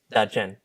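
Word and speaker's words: Ta Chien: Da Chen. Dachen. But it's spelled T-A and then C-H-I-E-N. But so people say like You want to tell Ta-Chen.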